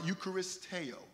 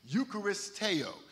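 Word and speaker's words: εὐχαριστέω: the Greek word Eucharist okay ukar I'm sorry eucharisteo I'm going make sure I pronounce it properly eucharisteo and it means to be grateful that is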